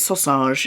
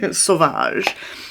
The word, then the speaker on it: Sauvage: talk about Dior Sauvage because we call it sausage in our house. I don't know why, but you know when you say something wrong so many times for fun, you forget how to actually say it correctly. That's me and Dior Sauvage. Sauvage.